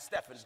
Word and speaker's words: Stephen: they stole Stephen chose Stephen who summed it pronounced as Stefan's different Hall of faith and of the Holy